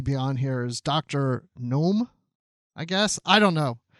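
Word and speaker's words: Noum: on here is dr gnome i guess i don't know what if i pronounce it it's n-o-u-m like now or something jason alexander that's exciting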